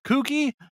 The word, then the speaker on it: Cucky: was just called Cucky, although it was supposed to be pronounced Kooky because of, but that got lost in translation.